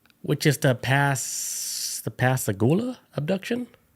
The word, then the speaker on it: Pascagoula: of the night, which is the pass the pasagoula abduction. There you go. That's how you say it. Pasagula.